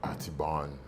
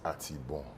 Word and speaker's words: Atibon: Generally, people say, the Anglos, they will go Atibon. No, it's Atibon. Atibon. What is it? The N is silent? It's a silent N, yeah.